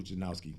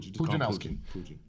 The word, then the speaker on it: Pudzianowski: Pudzianowski. They call him Pudzianowski.